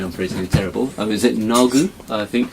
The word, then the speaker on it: Nagu: All my pronunciation, I'm pretty terrible. Is it Nagu? I think. Nagu, yes.